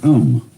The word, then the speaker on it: Om: mantras is of course the sound om that sound is used because if you spell it out a u m it runs from the back of your throat to your lips and therefore it contains the whole range of the voice and for that reason